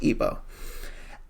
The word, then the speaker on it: Igbo: It's pronounced Igbo.